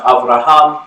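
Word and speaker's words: אברהם: tradition the Abrahamic faith traditions Oh Abraham is pronounced Avraham and Hebrew it literally means father of many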